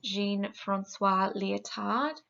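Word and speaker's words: Jean-François Lyotard: prominence by a French philosopher his name was Jean Francois leotard that's how you pronounce it and he used the term meta-narrative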